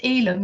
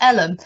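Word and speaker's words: Elham: jillian to say that the parish name is pronounced elim not ellen which is something we were discussing yesterday yes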